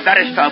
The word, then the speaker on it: barrister: sort of legal interceder I'm a barister with the accent on the bar if you're married and